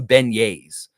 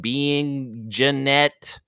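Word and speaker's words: beignets: so he had some Benes Benes Ben see I know how to say it some people would see that word and they'd be like being Janette being Janette one of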